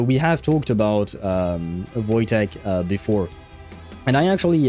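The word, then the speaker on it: Wojtek: He's called Voeek. Uh oh, pronounced Voytech.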